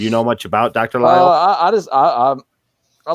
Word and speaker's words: Lisle: Lyle is how it's pronounced, though. Like Right. Isle, with like the word Isle. Yeah. Like Jason Lyle. like the British Isles, just with an L at the front of it. I don't think. Yeah, I'm bad at pronunciation. I am terrible with pronunciation. Well, so I mean, you wouldn't know. You wouldn't know the S is silent unless you know what I mean.